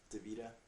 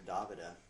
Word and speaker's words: Davida: But I'm talking about Davida. Everybody calls her Davida, but actually her name's pronounced Davida.